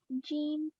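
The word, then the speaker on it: ج: Now a jeem without a fatha is pronounced. jim, Yes, and a jeem with a fatha.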